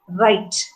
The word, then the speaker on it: write: in english see w-r-i-t-e is pronounced right so when you write you'll have to write it as the i right i is the diphthong that we run right so right w is silent there so that is